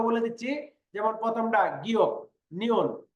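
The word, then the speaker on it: 니은: আমি আবারও বলতেছি, যেমন গিয়ক, নিয়ন, দিগুত, রিওল, মিয়ম, বিয়প, সিয়ত, ইয়ং, জিয়ত, চিয়ত, খিয়ক, থিয়ত, হিয়ত, ফিয়ক, ফিয়ক, হিয়ত।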